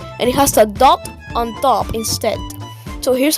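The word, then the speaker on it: ض: To pronounce dot correctly, you must press your tongue against your upper gum area, right where the gum meets your upper teeth, and then make a D sound.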